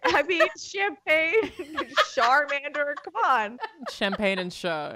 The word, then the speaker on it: Charmander: Okay, Andrea calls that a Charmander, Alana. Pretty cute. Listen, I learned the lesson. It's char, like charbroil.